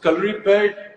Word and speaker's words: Kalaripayattu: so calorie pad, Hrithik, I'm so proud of the fact that you said the name correctly.